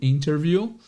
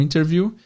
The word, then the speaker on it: interview: E aqui é interessante saber que o interview, entrevista, esse T depois do N, geralmente em inglês americano, é oculto. Ele é escondido na pronúncia. Então, você pode ouvir sim as pessoas dizendo interview.